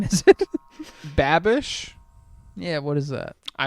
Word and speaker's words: Babish: Do you pronounce it binging with Bobish? Yeah. What is it? It's Babish.